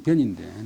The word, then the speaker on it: 변: 자기가 아니고 우주 사이에 있는 한 명의 노예에 불과하고 만유의 변지 말 두 마리 그 함께 채굴 변자인데 발음 병이 아니고 변인데 나란하다는 뜻인데 변지냐 그면 변지라 그면 뭐냐 그면 지금은 거의 없는데 육손이라고 옛날에 있었잖아요.